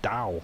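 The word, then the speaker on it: DAU: spell that d-a-u oh d a dow not a Dao not like my company I used to work for or not not Dow apple is the same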